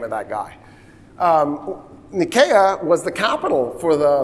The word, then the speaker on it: Nicaea: So Nicaea is pronounced Nicaea. I'm going to not say Nicaea again for the rest of the lecture.